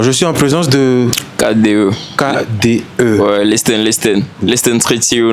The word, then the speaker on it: KDE: Mais des fois, tu vas voir, certains disent KD, Hein? KD seulement, sans Ok. prononcer le E. Ouais. Genre sous forme de liaison, je sais pas. La vraie prononciation, c'est quoi? C'est KDE. KDE. Ouais, KDE. KDE.